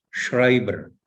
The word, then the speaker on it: Schreiber: SCH ya banyak ya dalam bahasa Jerman itu vokal berurutan, konsonan berurutan SCH. Bacanya itu bukan tapi Schreiber. Schreiber. Ada vokal urutan EI, bacanya bukan EI, tapi bacanya AI.